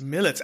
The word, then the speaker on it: Militz: how do you say your name millets millets I know I don't think I ever knew